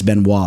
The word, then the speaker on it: Benoit: that had that same Ben Wa and he pronounced it Benoit okay so he threw me off I know it's Ben Wa I used to be the type of dude